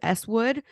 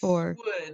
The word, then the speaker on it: Swood: do you say it is it eswood or swood it's swood because it's Stephen wood is his name okay with with swood